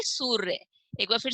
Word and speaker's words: सूर्य: रेफ की मात्रा, और इसका उच्चारण स और य के बीच में किया जाएगा, और जो र की ध्वनि है वो आधी तरीके से ही सुनाई देगी। तो कैसे पढ़ेंगे इसको, सूर्य।